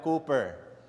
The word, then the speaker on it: Cowper: Actually it's pronounced Cooper not Cooper no William Cooper. Kaya langung spelling is C o W P E R but you have to pronounce it as Cooper.